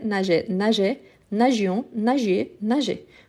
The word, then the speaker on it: nageait: Donc, nageait, nageait, nageait, nagions, nagiez, nageait. Vous voyez qu'ici, la prononciation des 3 premières et la troisième du pluriel sont identiques.